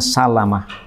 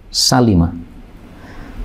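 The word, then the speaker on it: سلمة: ini disebutkan Bani Salimah ini jangan salah baca karena banyak orang membacanya Salamah salah ya Salimah semua Salamah itu cara bacanya Salamah kecuali Bani Salimah ini ini cara membacanya Salimah khusus Bani Salimah untuk yang lain-lain Salamah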